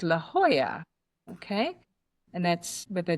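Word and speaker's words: La Jolla: good laugh out of, it's a town called La Hoya. Okay? And that's with a J O L A at the end. So Americans call it La Hoya.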